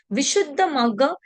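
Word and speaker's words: Visuddhimagga: Vishuta Maga uh Vishut the maga in Pali and Visha Mara in it is pronounced in Sanskrit.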